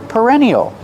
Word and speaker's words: perennial: Pronunciation, use the sound like burger. Perennial.